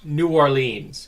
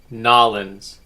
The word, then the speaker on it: New Orleans: phrase right here is not new orleans it's nollens don't ask me why that's how they say it today's news item comes